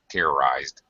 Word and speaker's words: terrorized: use your vocal cords the pronunciation of Ed is a D sound terrorized okay and uh one